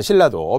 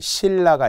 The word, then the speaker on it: 신라: 자 신라도 표기는 니은 리을로 적었지만 우리 표준 발음법에서 배웠던 것처럼 니은 리을은 리을 리을로 바뀐다라는게 유음화였잖아요. 그래서 유음화의 사례들 신라가 있어요.